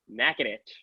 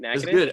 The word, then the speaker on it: Natchitoches: over the summer, was learning how to say Natchitoches. How is that? How does that sound right? It's Natchitoches? good. How the hell were you pronouncing? I did say Natchitoches a couple of times for.